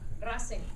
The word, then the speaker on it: Racing: teams independiente and rasenc rasing is spelled like racing the founder was a fan of american race cars rasing on this day is